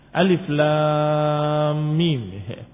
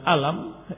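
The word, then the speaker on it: الم: alif lam dan mim Alif Lam Mim dibaca bukan dengan alam tetapi dibaca Alif Alif Lam dibaca lam dan mim dibaca Hai demikian cara membacanya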